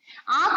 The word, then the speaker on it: आंख: अगला शब्द है आंख, आंख में भी चंद्रबिंदु की मात्रा है। इसको उच्चारण करते समय आंख, हम अंदर से गले से नाक की सहायता से इस शब्द को निकालेंगे, आंख।